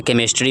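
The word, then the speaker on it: chemistry: यहां पे जो सीएच दिया हुआ है, इसको हम लोग च नहीं पढ़ेंगे। नहीं तो ये हो जाएगा चिस्ट्री। हो जाएगा ना? लेकिन हम लोग क्या पढ़ते हैं? सी एच को कभी-कभी प्रोनाउंसिएशन में क पढ़ते हैं। ठीक है? ध्यान रखिएगा। जैसे केमिस्ट्री में रहेगा, क्रिसमस में रहेगा, क्राइस्ट में रहेगा, केमिस्ट में रहेगा।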